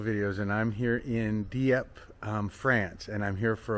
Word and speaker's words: Dieppe: I always want to go Dieppe or Dieppe or Dgieppe or something, but it's Dieppe. They just don't pronounce that last E, so it's Dieppe, Dieppe.